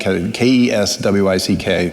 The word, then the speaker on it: Keswick: the the Keswick project k-e-s-w-i-c-k pronounced Keswick that's the code word